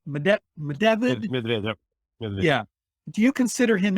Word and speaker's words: Medvedev: Is it Medvedev? Medvedev.